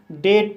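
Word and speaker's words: date: डी को डा पढ़ा जाएगा, ए को ए पढ़ा जाएगा, टी को टा पढ़ा जाएगा और ई साइलेंट रहेगा। इस तरह से डेट पढ़ा जाएगा और डेट मीन्स तारीख।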